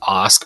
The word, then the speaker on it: Ask: My last name is pronounced Ask, but it's spelled Ask.